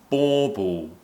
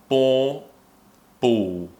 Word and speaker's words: bauble: Or, and the dark L at the end, oo, or oo, or oo, bauble, bauble, bauble. It's difficult to understand that this is still an L that we're pronouncing when it sounds nothing like an L. It sounds more like we're just ending with a vowel sound.